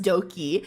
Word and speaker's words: Doki: what if it's spelled, it's like Doki, but instead of spelling with a D, they spelled it with a B or some shit, but it's also still pronounced Doki.